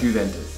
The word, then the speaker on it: Juventus: Juventus.